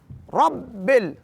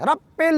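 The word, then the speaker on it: رب: है कैसे रब बिल ये एक चीज का ख्याल रखना जरूरी है कि बा पढ़ा जाए पे ना बान जाए रब पेल ना हो जाए रब बल आलमीन अल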